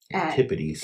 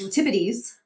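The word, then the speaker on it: antipodes: Antipities. Antibities. You know, I actually looked up how to say this and it said antipotes. Okay. Right. I think it's antibities though. I think you're right.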